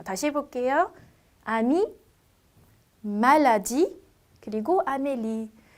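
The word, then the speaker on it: maladie: 자, 제가 모음 다음에 붙어서 끝난 이는 발음을 하지 않는다라고 했어요. 어떻게 읽으시면 될까요? 말라디 이렇게 되겠죠.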